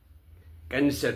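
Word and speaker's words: Knesset: एक स्टेटमेंट आया है इजराइल के कैंसेट से। कई लोग उसको नेसेसट बोलते हैं, कई कैंसर बोलते हैं। तो मैंने उसमें देखा था Google में तो वो कैंसेट ही है। के साइलेंट नहीं है।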